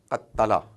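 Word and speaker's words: قتّل: So this is because there are two ta that have come together and they're not written together. Instead, there is a symbol of tashdid, shad, which gives you the understanding that they're both together. So there is, had it not been written like that, it would have been qat tala. That's how it is actually.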